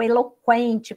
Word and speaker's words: eloquente: e fim de outra tirou o trema né o trema no u Zinho ele para a gente saber a pronúncia não é o eloquente por exemplo tinha treino a palavra eloquente para a gente saber usar a fazer a pronúncia correta para não ficar é louco quente mas retirou então agora